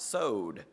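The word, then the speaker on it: סוֹד: just blown away because it looks to me like coward or something like that but I'm told it's pronounced sewed it means session company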